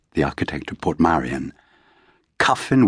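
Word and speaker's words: Kyffin: Cuffin Williams the painter rhymes with puffin.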